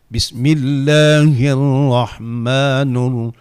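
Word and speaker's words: بِسْمِ ٱللَّٰهِ ٱلرَّحْمَٰنِ ٱلرَّحِيمِ: Ya, kebiasaan salah di bismillah. Bismillahirrahmanirrahim. Nur terdengar nur. Nirrahim. Kita harus buat mulut kita ketika kita mengucapkan baris kasrah.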